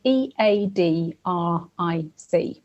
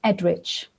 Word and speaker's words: Eadric: But basically, at the end of Old English names, if there's a C, it tends to be pronounced ch rather than a hard ch.